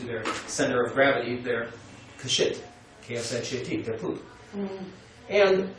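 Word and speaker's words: क्षिति: And the Sanskrit word for earth is K-S-H-I-T, right? Kshit. But the K is silent.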